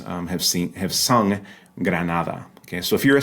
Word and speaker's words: Granada: things on here right that first G in Granada is the quote unquote hard G sound Granada but the first D is the soft the frickative D right which is pronounced